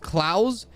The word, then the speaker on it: Claus: Not claws. It's pronounced claus as in cl k l. mouse without the m.